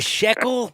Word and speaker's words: shekel: it it's a sh it's a shackle you got to be jewish to be able to pronounce it a shekel thank you i knew